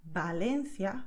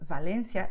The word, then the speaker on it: Valencia: Officially in Spanish, both letters have the same sound, which is B. So you would say Venezuela, Valencia, Barcelona, Berga, okay? And this is so because both letters have the same sound. You see, my two lips are touching when I say Venezuela, okay?